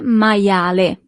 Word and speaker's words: maiale: You see, as we have seen with the alphabet, the letter I is pronounced as I. Maia. And then the letter E at the end is always pronounced as E in Italian. Il maiale.